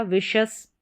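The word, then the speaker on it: vicious: फिर यहाँ पर है VI को वी पढ़ा और फिर शस हो गया विशस, विशस।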